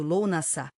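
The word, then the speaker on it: Lughnasadh: O ciclo continuou atingindo seu pico com Lugnazado, pronunciado Lou Nassá, caindo por volta de primeiro de agosto.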